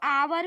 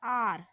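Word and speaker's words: hour: आप आवर भी कहते हो, लेकिन करेक्ट प्रोनाउंस क्या है, आर।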